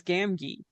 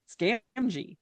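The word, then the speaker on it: Gamgee: For the longest time it was Sam Wise Gami because I had had nobody pronounce it and then yeah then like um a cartoon of the Return of the King came out in the 70s or 80s and uh Gami. I'm like oh okay sorry Sam I've been pronouncing your name wrong.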